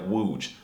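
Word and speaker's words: łódź: you should learn polish how the hell is this loads word pronounced like wooj why is the Ella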